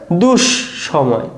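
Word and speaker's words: দুঃসময়: তাহলে এর যে শুদ্ধ উচ্চারণ সেটা কি হবে? দুষ সময়। দুষ সময়।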